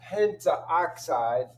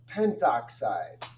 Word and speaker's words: pentoxide: So it's not pentaoxide, it's just pentoxide.